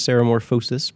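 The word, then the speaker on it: ceremorphosis: certain parts but yeah I think it captures Sarah morphosis pretty well so glad you pronounced that correctly is there a morphosis morphosis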